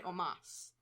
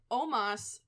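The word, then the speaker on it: Omos: was the sole survivor no you say almost i say omas i say almost because i could've sworn i heard it's been pronounced almost at one point well i think it's omas i think it is i'm pretty sure it is omas but i mean it's like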